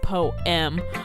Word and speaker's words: poem: 8 syllables, not 7, because it goes poem or whatever. It's 2 syllables, and the person was like, what the fuck?